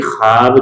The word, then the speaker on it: خواب: پہلے کیا دیکھا کہ خواب دیکھا، یہ تو لکھا ہوا ہے لیکن یہ پڑھنے میں نہیں آتا ہے، تو یہ واو ایسا ہے جو کہ تلفظ میں نہیں آتا، تو یہ غیر ملفوظی واو بھی ہو گیا ایک